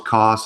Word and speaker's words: Kos: It's Kos, right? That's how you pronounce That's it. right. That's right. KOS. That's correct. Yeah.